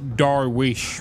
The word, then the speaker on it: Darwish: it's the name's pronounced Darwish right the V is pronounced like a w and the S comes with a h it's how you were